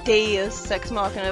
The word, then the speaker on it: Deus Ex Machina: Either way, this feels like a Deus Ex Machina at the moment. Well, I know it's pronounced Deus Ex Machina, but that sounds really weird to me.